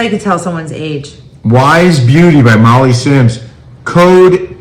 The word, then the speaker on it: YSE: Wise. Ice?